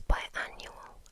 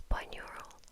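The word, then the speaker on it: binaural: word wrong for years by annual I used to say it's by neural right that's definitely what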